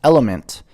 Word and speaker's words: LMNT: sword for sure yeah lmnt pronounced element is a tasty electrolyte